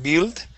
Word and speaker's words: build: this word here okay we're going to use a short I sound so instead of saying build okay the word is build build good one more